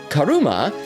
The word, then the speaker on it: Karuma: means great or excellent karuma is pronounced similarly to the word karma in kanji terms Karu